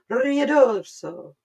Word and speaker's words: Ruidoso: Ruidoso. Sounds like you're saying rear dorso, and that's how it's spelled.